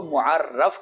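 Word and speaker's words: مُعَرَّف: تعریف ہو اس کو معرف کہا جاتا ہے را کے زبر کے ساتھ، اور تعریف کو معرف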